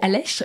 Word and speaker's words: Aleix: Alors, ça se dit Aleix, mais ça s'écrit A-L-E-I-X.